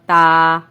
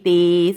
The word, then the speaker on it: ت: کے مطابق پڑھنا ہے، یعنی با، تا، سا، اور اردو تلفظ سے نہیں پڑھنا۔ اردو تلفظ یہ ہے بے، تے، سے، کیونکہ عربی حروف تہجی میں بڑی یہ کی آواز اے نہیں ہے بلکہ یا ہے، ٹھیک ہے، اس کا